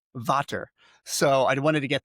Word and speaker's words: VVater: But with water, which is actually spelled as two capital V's. In many parts of the world, it's pronounced Vater.